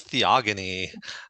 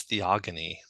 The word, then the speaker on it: Theogony: in George or right otherwise we always use it as a hard G and not the soft G so um but in any case this is from the Greek and the Greek root would definitely use a hard G sound so it is theogony okay well I am